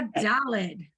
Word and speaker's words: Daled: This is a Daled, pronounced duh, right?